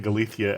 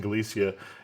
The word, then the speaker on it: Galicia: You're pronouncing it with a Castilian pronunciation, so you're saying Galicia and I'm saying Galicia, and I may not be able to change my pronunciation.